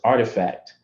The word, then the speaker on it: RTFKT: And a company named Artifact, spelled RTFKT, but pronounced Artifact, had been around for a couple of years playing in the space, doing digital sneaker collectibles.